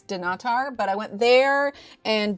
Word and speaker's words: Dunnottar: I went to I always pronounce it wrong cuz my instinct is I want to pronounce it Dunottar, but that's not it. It's Dunnottar, but I went there